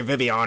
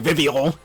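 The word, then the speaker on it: Vivillon: more underappreciated bug types like say vivon or as wolf VGC would say vivol which I hate that pronunciation I get he's trying to say with a French accent but still I hope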